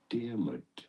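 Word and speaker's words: Diarmuid: I need to know how to pronounce this name. How do you say it? Dearmid.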